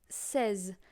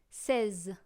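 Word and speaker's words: seize: have 16 which is says like a seizure you know but instead of going C you go say says got it let's go with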